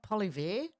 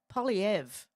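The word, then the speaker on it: Poilievre: I heard it pronounced the other day, and I've been calling him what? Polyver? Oh, my God. Polyev.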